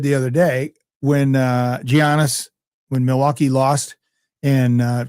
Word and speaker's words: Giannis: His name is Giannis. It's pronounced Giannis like Y O N like Jani.